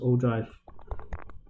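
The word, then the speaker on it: ogive: okay now o drive this is pronounced o drive okay and o drive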